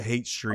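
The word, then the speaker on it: Haight Street: hipsters and it's like it's spelled like Hyatt Street, but you pronounce it Hate Street.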